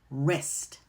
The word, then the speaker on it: wrist: Another pattern is the silent W in the WR combination. WR will appear at the beginning of words. When we see this, that W is silent and we're going to pronounce the R sound, like right, wrong, wrist.